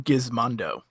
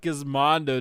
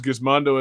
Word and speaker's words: Gizmondo: is i just use gazmondo as a sex move but um oh i've been mispronouncing it this whole time it's a soft g john oh very soft